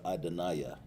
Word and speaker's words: Adonai: It's like Ada Naya. You pronounce it better, Adonaiah.